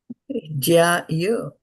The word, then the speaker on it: jyāyo: So JYA with a bar, you're going to put a lot of pressure in the A, Yeah.